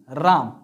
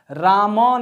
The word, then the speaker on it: राम: राम शब्द को बोलिए राम राम जब बोलते हैं तो लो लास्ट में जो एम है उसमें ऐसा साइलेंट हो जाता है रमन नहीं बोलते हैं राम बोलते हैं क्या बोलते